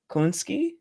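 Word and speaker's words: Kosinski: Colin, how do you pronounce his last name? Kolinsky, the director.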